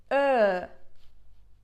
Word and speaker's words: Ö: Ö. Ö. Okay? When you say O, like your mouth is literally like a circle, and when you say Ö, the circle is just smaller.